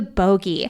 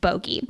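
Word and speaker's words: Bogge: starts pronouncing it bogy sjm did confirm it is pronounced bogey Lucian starts to freak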